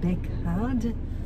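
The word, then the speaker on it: Baekgaard: It's spelled B-A-E-K-G-A-A-R-D, Bekard.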